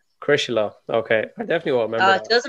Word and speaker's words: Crosserlough: Yeah, as long as I've forgotten how to pronounce it. what did you tell me? Crosserlough. Crosserlough.